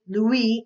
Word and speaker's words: Louis: And in this case, his name is French, so it's not Louis or Louis, it's actually Louis, and the S is silent, Pasteur.